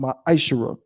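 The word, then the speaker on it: מעשר: Means 10th in Hebrew and is pronounced ma'ashara.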